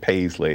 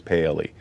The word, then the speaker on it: Paley: me uh Reverend William I said Paisley it is Paley and he's he's right